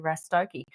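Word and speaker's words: Rastoke: hogy py hokei rokei I had to rhyme it with something so I could pronounce it properly that's right so it was the Hokey Pokey rokei so we were we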